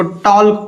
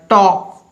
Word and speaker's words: talk: हमने लिखा TALK, कुछ लोग इसको टॉल्क पढ़ लेते हैं, टॉल्क गलत है भाई, आप सीखिए मेरे साथ। हमने कहा कि के ठीक पहले अगर एल होगा तो एल साइलेंट होगा, that's all, it's very easy है। यहाँ पर क्या हो जाएगा, रियल प्रोनाउंसिएशन हो जाएगा टॉक, नो कि टॉल्क।